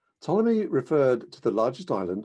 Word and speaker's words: Ptolemy: the Greco-Egyptian scientist Claudius Ptolemy. The P is silent, as in a swimming pool. Ptolemy referred to the largest